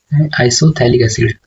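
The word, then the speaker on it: isophthalic acid: तो इसका जो कॉमन नेम है वो देखो यहाँ पे कैसे होता है, आइसोथैलिक एसिड, उसमें भी पी साइलेंट होगा।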